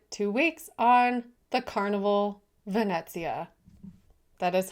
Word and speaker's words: Venezia: We spent two weeks on the Carnival Vanetsia. That is how you pronounce it.